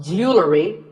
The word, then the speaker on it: jewelry: Word number 44 is jewelry. It's spelled differently in American and British English, but it's pronounced the same. Jewelry. Jewelry. It's not jewelry and it's not jewelry. It's jewelry.